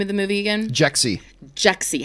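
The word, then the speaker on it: Jexi: remind me the name of the movie Egon jexy jexy how do you spell that je X I it's the name of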